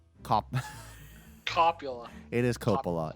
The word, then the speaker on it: Coppola: complan popular it is Coppola it is Coppola copula copula I'm like well I mean I don't know I I was waiting but you've been pronouncing it correctly the whole time you realize that separate